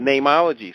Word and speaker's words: Neimology: Is it Neimology science? Yeah, you say it perfectly. It's just spelled funny. It's N-I-M.